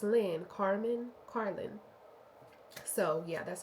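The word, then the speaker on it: Carlyn: Like it's Carlin. C A R L Y N. Car and then Lynn.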